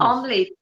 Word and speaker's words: omelette: Omelette. Omelette. No. Omelette. It's you don't emphasize e. Just say omelette. Omelette. Two syllable. Omelette.